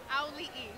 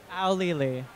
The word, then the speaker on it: Auli'i: It's ow like you stub your toe, okay. Lee like Bruce Lee, and then you add another E. Auli'i. Auli'i. Auli'i.